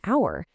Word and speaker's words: hour: The H totally disappears in honest and hour, and the W is silent in both sword and answer.